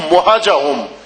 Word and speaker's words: مہجہم: الشہداء پر الذین بدلوا مہجہم۔ یہ بات زیارت پڑھتے ہیں تلفظ درست نہیں ہوتا، یہ ذہن میں رکھ لیں۔ الذین بدلوا مہجہم، مہج